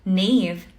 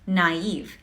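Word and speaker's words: naïve: Hindi siya naive, pero it's naive. Dahil meron siyang diaeresis sa taas ng I, ibig sabihin, pinopronounce din natin yung I as an individual letter.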